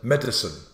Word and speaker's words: medicine: The next one up is medicine. Or some people would like to say medicine. But I prefer, I'm in the two-syllable camp. Medicine. Some in the three-syllable camp.